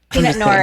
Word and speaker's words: Pinot Noir: great was i mistaken is it not pronounced peanut noor peanut noor is also an acceptable pronunciation all right we gotta